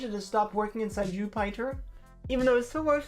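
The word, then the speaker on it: Jupyter: Now there's a package that has stopped working inside Jupiter even though it still works from the command line inside the Python virtual environment. That sounds really fun. I know you're supposed to pronounce it Jupiter, but it's spelled so I I I pronounce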